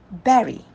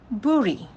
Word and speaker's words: bury: to pronounce this word it is berry berry not buri so past tense for